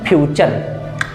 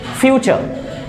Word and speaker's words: future: तो there is no word in the dictionary which pronunciation is future. No, it's future ना कि future. Future आप ऐसे हाथ रख के देखिए, future, future, future, file, father, fan।